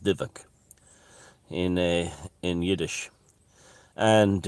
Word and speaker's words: dybbuk: the div the dybbuk thing is it's about dybbuk but it's pronounced divak in a in yiddish and uh that's why